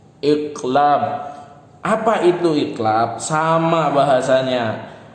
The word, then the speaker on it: iqlab: Bacanya gimana? Iqlab.